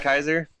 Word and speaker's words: Caesar: Is he spelled like Kaiser? Or is it- C-A-E-S-A-R. Kaiser. Yes. Kaiser. So I will vary in pronunciation between Caesar and Kaiser depending on what I feel.